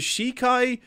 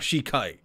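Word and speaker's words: Sheikah: i'm pronouncing that right is it shikai shayka shiki shika shika inhabited the great power of their wisdom saved this kingdom time and time again shika all right it's not shikai shika okay but their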